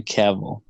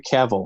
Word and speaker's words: Cavill: once Theatre is losing pretty badly to Henry Cavill and his name is pronounced cavil like travel and I know that